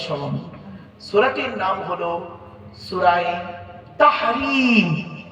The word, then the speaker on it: তাহরীম: সূরাটির নাম হলো সূরায়ে তাহরিম। কি বললাম? তাহরিম। তাহরিম উচ্চারণটা ঠিক রাখবেন, বুঝতে না পারলে বলবেন।